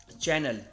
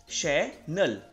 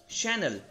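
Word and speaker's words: Chanel: Next brand की बात करते हैं चैनल, नहीं, इसको प्रोनाउंस करेंगे चैनल, राइट। तो ये ब्रांड है फ्रेंच का, ये परफ्यूम, ड्रेस एंड बैग्स बनाता है, राइट। इसको आप प्रोनाउंस करेंगे शैनल, शैनल।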